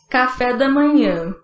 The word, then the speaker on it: café da manhã: І увага, як він вимовляється. Café da manhã.